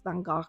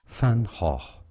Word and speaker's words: Van Gogh: French could not pronounce Vangok properly. I don't think I'm doing it right either. Here's the correct pronunciation in Dutch. Fanho. Fanho. Not Van Go. Not Van Go, but Fanho.